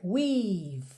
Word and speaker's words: we've: Percebe que é we've. Você fecha o som no V.